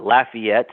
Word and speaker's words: Lafayette: we we have um uh Lafayette as in laugh as you mentioned the